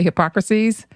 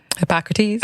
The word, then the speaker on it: Hippocrates: me say his name correctly come and say hypocrisies hippocrates i'm hippocrates okay when he said all disease